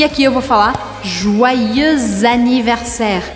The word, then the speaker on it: Joyeux anniversaire: E aqui eu vou falar Joyeux anniversaire. Eu faço a liaison entre o X de joyeux e o A de anniversaire. Ou seja, que eu grudo a pronúncia das duas palavras.